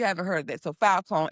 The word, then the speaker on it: Filecoin: So, Foulcoin, it's spelled F I L C O I N. So, it launched what actually launched on November 18th. Um, well, Falcoin onchain cloud.